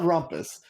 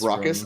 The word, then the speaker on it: Raucous: Well, I know it's not Rumpus. We can get some pronunciation guides, but I'm gonna call it Raucous. Raucous. I'm getting an update. It is Raucous.